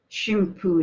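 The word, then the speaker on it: 神風: So, in 41, the kamikaze pilots are saying that there is no hope for winning. And that's the reason why kamikaze means God's wind. Shimpu is another pronunciation.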